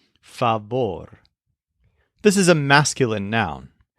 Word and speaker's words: favor: word favor but it's pronounced with a stress on the second syllable fabor this is a masculine